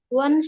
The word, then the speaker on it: won't: bacanya bukan want ya. Kalau want itu yang kayak gini nih, yang artinya ingin. Kalau ini bacanya adalah would. Won't. Dibedakan. Ini want. I want you. I want this. Kalau ini I won't go.